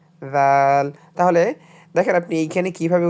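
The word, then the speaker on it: ذال: জিহ্বা সামনে দুই দাঁতের মাঝখানে রেখে হালকা করে উচ্চারণ করুন। দাল। জিহ্বায় দাঁত হালকা করে স্পর্শ হবে। জাল তাহলে দেখেন আপনি এইখানে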